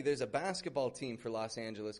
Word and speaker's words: Los Angeles: You can see by the spelling of this, L-O-S space A-N-G-E-L-E-S. Los Angeles. These are Spanish words. This means the angels.